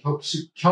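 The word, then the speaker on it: 格: 다음 은 나무 를 뜻 하는 한자로 , ' 각각 ' 이라는 의미 이지만 , 격식체 로 ' 격 ' 이라 고 발음 합니다 .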